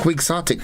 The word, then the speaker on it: quixotic: and it's quick sotic yeah quick IC it is spelled q iix o t i c quixotic and quixotic describes people and ideas that are